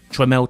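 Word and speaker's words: Tramel: formed a new company tremel technology his own name purposefully misspelt in order to reflect how it was actually pronounced their aim was of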